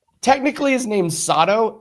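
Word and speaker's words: Sato: Technically, his name's Sodto. S A T O. It's all about the pronunciation.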